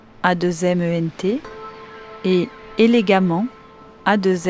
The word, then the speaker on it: élégamment: exemple méchamment a2ment et élégamment A2 m vous noterez que l'on prononce de la même façon amant les deux graphies voici les points à